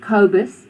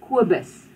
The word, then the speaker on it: Kobus: So you must remember that this Koos is not Koos, Koos. It's not Kobus, it's Kobus.